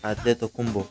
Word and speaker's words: Antetokounmpo: Así es que, ¿cómo se pronuncia realmente? Pues escuchémoslo de la boca del mismo Giannis. My name is Giannis Adedokunbo.